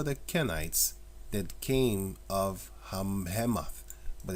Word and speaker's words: Hamath: But it's spelled Hamath, but it's Hamath.